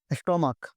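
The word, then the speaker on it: stomach: जैसे यहां पे देखते हैं स्टमक। स्टमक इसका उच्चारण में लास्ट में क आ रहा है।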